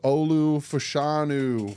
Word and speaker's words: Olu Fashanu: And that is Olu Fashanu from Penn State. No, I will not try to pronounce his full first name.